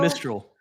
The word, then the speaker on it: Mistral: Am I pronouncing it right? Mistral? Yeah, Mistral.